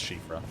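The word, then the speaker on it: Siofra: be the nokron slash shifa river valley that i learned is pronounced sheep bro i mean like so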